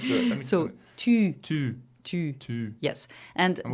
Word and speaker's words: tu: You need to push your u So sound.